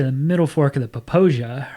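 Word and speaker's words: Popo Agie: O A G I E and it's pronounced Posia. Um we went to the middle fork of the Posia right outside of Lander. Mhm. go up to Posia Falls and we run that section of the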